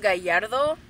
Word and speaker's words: Gallardo: So this is Gallardo, but it's actually pronounced Gallardo.